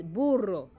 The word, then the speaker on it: burro: Now the Spanish word for the donkey is burro. Burro. So burro means donkey in Spanish. Now this is an easy word to say, burro. You just need to roll your R's.